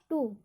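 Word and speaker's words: two: टू, यहाँ पर टू में भी W का उच्चारण नहीं होगा।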